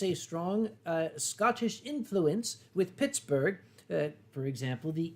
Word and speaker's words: Pittsburgh: So the original pronunciation was Pittsburgh, as in Edinburgh. Yes, and not borough, as you might think of when you go to New York City. It's bruh.